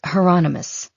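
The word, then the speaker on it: Hieronymus: And it's heronomous. Rhymes with anonymous.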